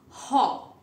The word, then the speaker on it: Gogh: So his pronunciation is Haw.